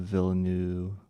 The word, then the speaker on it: Villeneuve: Sarah says, you say the end of Villeneuve like you were to say ooh.